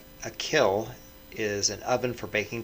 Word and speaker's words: kiln: for baking clay you'll notice that i'm saying kill and not kiln because that's the original pronunciation a lot of people don't know that and most people say it wrong but you could google